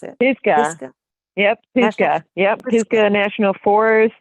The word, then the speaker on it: Pisgah: How do you pronounce it? Pisgah.